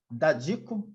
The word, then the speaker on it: Dadico: Eu tenho aqui a felicidade de receber a juíza Cláudia Maria Dadico. Essa é a pronúncia, doutora Cláudia? Exatamente, isso mesmo.